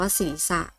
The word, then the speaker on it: ศีรษะ: คำ นี้ อ่าน ว่า ศีรษะ เช่น กัน กับ คำ ว่า จริง ค่ะ สี นะ คะ คำ นี้ เป็น คำ ควบ กล้ำ ไม่ แท้ เรา จึง ไม่ ต้อง อ่าน ออก เสียง ตัว พ ศ.